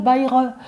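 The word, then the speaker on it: Bai He: de pharmacopée chinoise, et ça s'appelle Baire. Ça s'écrit B-A-I, plus loin H-E, Baire.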